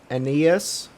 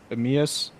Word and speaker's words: Aeneas: i mispronounced it earlier it's enes de croix uh a-e-n-e-a-s emeas and then like lacroix it's de la croix yeah that's how it is so this this